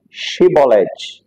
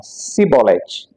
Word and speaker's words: Shibolete: E a palavra era Shibolete, mas como a língua dos efraimitas não conseguia, não tinha esse som de Shi, né? Não tinha o som de X, eles diziam Sibolete.